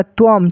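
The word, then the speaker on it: त्वम्: यहां पर ऐसा नहीं पढ़ दीजिएगा। त्वन न नहीं त्वम म पढ़िएगा म। समझ गए?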